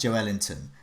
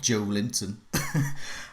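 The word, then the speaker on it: Joelinton: Imagine me as the jazz musician Duke Ellington's son, Joe Ellington, and he's pronounced Joe Ellington, not Joe Linton.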